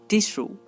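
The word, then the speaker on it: tissue: Next double S, এই দুটি লেটারও তালবশ র উচ্চারণ করতে পারে, যেমন টিস্যু, টিস্যু। দেখুন এখানে আমরা ডাবল S পাচ্ছি এবং তার উচ্চারণ হচ্ছে তালবশ র, টিস্যু।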